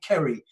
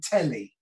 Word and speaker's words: Ceri: i loved him and he could never say my name right he'd never call me kerry he all my life he called me telly and uh don't ask